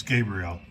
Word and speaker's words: Gabriel: Sorry, these shocks are pronounced incorrectly. It's Gabrielle is the shock brand I went with.